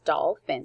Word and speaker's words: dolphin: the middle dolphin um dolphin has two syllables doll fin so we'll spell it by the syllables the first syllable is doll de all doll the second syllable is finn using that ph spelling dolphin there you